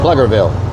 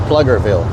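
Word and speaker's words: Pflugerville: Pluggerville. It's pronounced Pluggerville.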